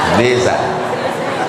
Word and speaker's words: desa: Desa. Tidak boleh menulis titel dibuat di sini. Mesti tulis menurut negara asalnya. Itu maka dibuat desa. Cara membaca huruf yang diapit oleh huruf hidup, S itu menjadi Z. Desa.